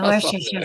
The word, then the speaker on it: Worcestershire: The Worcestershire sauce. Yeah. The Worcestershire sauce. Yeah, Worcestershire sauce. I'm like, how did they miss like 3 syllables in this word? Just skip right over them.